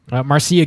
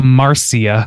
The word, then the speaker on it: Marcia: My girl Marcia. Marcia. That's my girl. Marcia. Marcia. You added like 3 syllables to that name. Marcia. Marcia. It's 2 syllables.